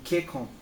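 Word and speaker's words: けっこん: Não, você não vai ler ke, tsu, kon. Não. Você vai ler ke, kon. Mesmo que seja tsu, isso daqui, nesse momento ele significa a duplicação, né, da primeira letra da próxima sílaba.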